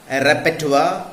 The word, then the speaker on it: repertoire: See some other wrongly pronounced words in English: reservoir, boudoir, abattoir, repertoire. They are correctly pronounced as reservoir, boudoir, abattoir, repertoire, and so on.